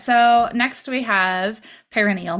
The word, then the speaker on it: perineal: so next we have perineal massage which I almost always say wrong so bear with me here see if you recognize me saying it wrong and then you